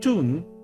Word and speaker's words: Thumb: Thumb pronounced tomb.